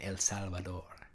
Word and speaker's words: El Salvador: and then we've got El Salvador water I love to say that I love that that's Spanish pronunciation El Salvador I love that anyway